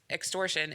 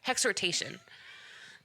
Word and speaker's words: exhortation: the word because I thought this word was extortion and they said no is is ex horon how do I say it exhortation which means the gift of exhortation this is